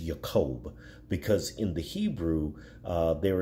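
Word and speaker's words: יַעֲקֹב: the Hebrew with his name it's technically correctly pronounced yaqoub because in the Hebrew there is no just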